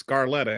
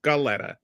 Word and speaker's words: Scaletta: say my name, and they said it's Scarletta, and I'm like, no, that's Scaletta. And it's like, for some reason, everybody wants to put an R in there all the time.